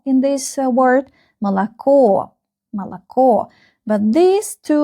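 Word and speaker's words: молоко: The last syllable is stressed. You can see the stress on the last O in this word. Malo.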